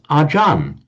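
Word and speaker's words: อาจารย์: So acharya in Thai they pronounce as ajan. That you all know the word ajan sumedha. It's in fact just the Thai way of pronouncing acharya.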